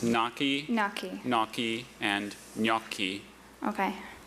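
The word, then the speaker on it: gnocchi: I'm saying it right. It's naki.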